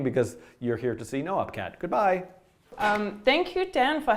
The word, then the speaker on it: Noopkat: And yes, it's pronounced noopkat, even though for the last many years I've just been saying noopkat.